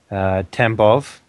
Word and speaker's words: Tambov: So we will be flying from the auxiliary airfield at Tambov. Is that how you say it? Yep. Tambov, yeah.